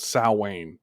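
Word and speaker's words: Samhain: in origin it's a it's a Time called sa which is it sounds creepy most people they pronounce it Sam ha because that's the way it's spelled but it's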